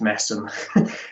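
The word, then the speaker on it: Masham: and brewing family in the yorkshire town of massam and yes it is pronounced massim um fixturns uh the older among you will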